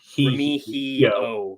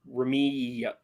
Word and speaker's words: Remigio: Remigio. Yeah. H sound, not a G sound. Remigio. Either way. Remigio.